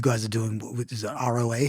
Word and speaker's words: ROA: You guys are doing, is it ROA?